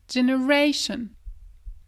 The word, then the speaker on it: generation: Rappelle-toi, accent tonique, juste avant le sion. Shun. Generation.